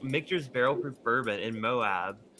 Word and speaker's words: Moab: Is it Moab? Is that how it's pronounced?